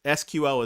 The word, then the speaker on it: SQL: actually to this day ibm will tell you that sql server is sql is how you say it in ibm's world and sql is how you say it in microsoft's world but who was you